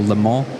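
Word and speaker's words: Le Mans: We head to Lemon in a week's time or Lemon if you say it correctly and then Harama at the end of the season which is in just three weeks.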